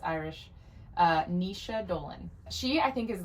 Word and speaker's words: Naoise: Her name, and I looked it up to make sure I pronounced it right because it's Irish, Naoise Dolan.